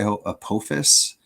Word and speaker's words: Apophis: Another thing that I would like to talk about eventually is, I think, let me pronounce it correctly, Apophis.